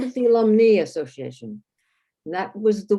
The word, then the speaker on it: alumnae: and English, and because if you pronounce alumni with the I, then you better maybe not try to make the feminine part be alumni, because if you have it in Latin, that's what AE is pronounced in Latin.